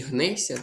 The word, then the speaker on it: гнешся: Тому що якщо у вас є букво сполучення шси, ми його передаємо як с як ся. Шся. Передаємо тут я як ся м'який подовжений звук с.